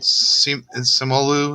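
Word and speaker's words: Simu Liu: then and uh the lead actor uh sam samuel lou is how you say it he's he's he's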